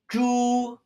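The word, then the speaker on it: 猪: Our last character in this set is the character for pig, pronounced zhu.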